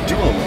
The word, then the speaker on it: Deuel: Now, is it Dueul? It is Dueul. You pronounced it right.